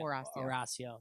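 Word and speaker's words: Horacio: I mean, I already mess up Horatio's name enough, or Horatio, whatever. Remember, we don't pronounce the H. Yeah, Horatio.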